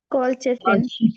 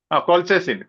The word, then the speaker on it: colchicine: Could you pronounce it? Colchicine. Colchicine.